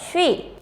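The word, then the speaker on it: 쉬: Y si pronunciamos rápidamente se va a leer shui.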